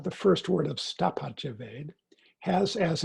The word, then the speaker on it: Veda: And the word Veda itself, Veda as it's spelt and Ved as it is commonly pronounced, means knowledge.